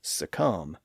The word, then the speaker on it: succumb: Those Bs are there because, again, there was once a B sound at the end of those words or in some part of the earlier version of those words. And in those cases, the Bs were once pronounced in the Middle Ages. But the evidence suggests that they were all silent by the early 1600s.